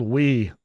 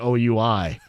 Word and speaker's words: Wii: U I used to call it Oui because I was a hillbilly. Nah, it was called Wii.